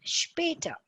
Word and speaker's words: später: And any letters that comes with an S and a P together is always said as sp. S and P is S HP.